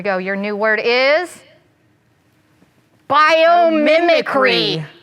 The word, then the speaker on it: biomimicry: How many was that? 5? Biomimicry. 5 syllables. 1, 2, 3, 4, 5.